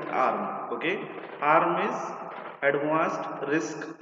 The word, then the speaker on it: ARM: In common language we simply pronounce it ARM.